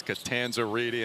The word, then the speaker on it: Catanzariti: I said, it's Catanzariti, right? She looked at me, she goes, it's Catanzariti, and she did the hand motion as well.